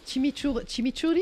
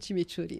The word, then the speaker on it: chimichurri: On en met la gentille, il y a la sauce chimichurri, je prononce pas.